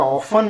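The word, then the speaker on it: often: या ऑफन भी लिख सकते हैं। ऑफन है ना? टी साइलेंट होता है।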